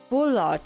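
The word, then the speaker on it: Bullard: How do you say his name? Bulard. Not Bard. Okay.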